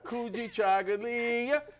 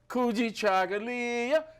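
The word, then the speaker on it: Kujichagulia: Chagalia, Kuji Chagalia, Kuji Chagalia, Kuji Chagalia, Kuji Chagalia, Kuji Chagalia.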